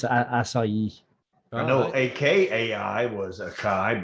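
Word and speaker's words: açaí: I thought it was Akai. It can be pronounced Akai as well, but the actual pronunciation is Acai.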